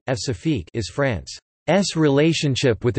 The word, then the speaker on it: Françafrique: Francafrique, French pronunciation, F-safique, is France's relationship with its former African colonies.